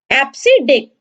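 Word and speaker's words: EBCDIC: एप्सिडिक, इसको प्रोनाउंसिएशन किया जाता है एप्सिडिक से, और ये यूज करता है 8 बिट्स।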